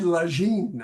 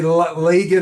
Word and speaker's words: Lagin: It's Phil and Ned Lagine. I think is how he Yeah. likes to pronounce his last. Some people say Lagan or Logan, but it's for Hey,